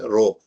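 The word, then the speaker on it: ρ: at the symbol and this is a Greek symbol Greek alphabet you might have heard you might have used to be pronounced as row row of a and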